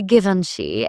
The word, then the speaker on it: Givenchy: I've heard people say Givenchy as Givenchy. The brand prefers Givenchy, which feels elegant. Some pronounce Hermes as Hermes.